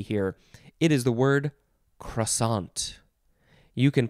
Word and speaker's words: croissant: all french and fancy i say croissant there's no r sound in there cuason um but this one